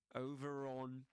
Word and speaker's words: over on: So in this case in this accent um they would pronounce the rat sound. that they say over on over. Over on Okay, it's a very gentle sound. Very small. Over on. It's not over on over, but over on over on over on over on the right. And as I explained in previous episodes, over on in this case, the this linking sound is called linking R.